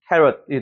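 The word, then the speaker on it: carrot: 강세가 어디 있어요 당근 당근 앞에 캐의 강세가 있죠 그래서 캐럿이 되는 거예요 슈아 사운드 맞는 거예요 여기 강세 여기 같은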